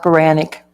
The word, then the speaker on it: Baronick: So, Pronounced Baranic. Baronick.